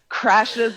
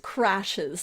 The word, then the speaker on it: Crashe: remind folks, slipping is Crashe's law. Yes, as if there's, John Crashe. Right, because she doesn't spell it crash like I crashed the car. It's CRASHE''S.